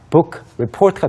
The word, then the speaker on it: book report: 이것을 사실 book 그리고 report라고 우리말로 한글로 표기를 한 다음에 읽어보면요. 북리포트처럼 됩니다. 그래서 북이 붕처럼 바뀌게 되는데 이것을 영어로 발음하시면 상대방이 알아들을 수가 없습니다. 그래서 book report가 아니고요. book report. Right. Book report. 네, K 발음이 좀 강조가 됩니다.